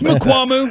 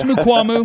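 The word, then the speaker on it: Mukuamu: I still can't pronounce his last name. It's Mukwamu. It's Mukwamu.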